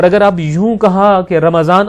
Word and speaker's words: رمضان: لہٰذا یہ لفظ رمضان نہیں رمضان ہے.